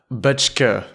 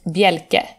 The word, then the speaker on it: Bjelke: Thank you very much, Butchke. Yeah, almost. Almost, it's Berke. Oh no, you know what? I don't use it because it's so hard for foreigners to pronounce it. It's Bjelke. Bjelke.